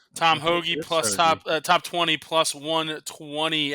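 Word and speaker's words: Hoge: It's pronounced Hoagie. Tom Hoagie plus top 20 plus 120 at Bovada as well.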